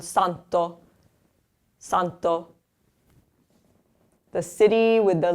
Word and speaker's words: santo: Poi, the third here, starting the word, so it has the soft sound. Santo.